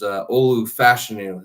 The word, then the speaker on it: Olu Fashanu: We've been saying Fashanu for the last 4 or 5 months, but it is Olu Fashanu is how his name is pronounced.